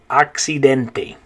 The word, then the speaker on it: accidente: Okay, so if in English it would be the word accident, in Spanish it's the word accidente. Accidente. So in English you have accident, in Spanish accidente.